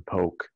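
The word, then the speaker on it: pork: struggle was the pig it's spelled p-o-r-k but sounds real close to poke in my mother's mouth my mother tongue like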